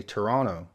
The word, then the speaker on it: Toronto: Americans including myself say Toronto with emphasis on that second tee but I think most Canadians dropped that second T sound and say Toronto and after too long